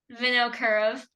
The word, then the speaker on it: Vinokurov: Vinokurov.